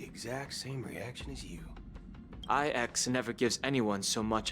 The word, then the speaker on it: IX: Damn, they really said it as IX, not Ix. L take right there. It's pronounced Ix.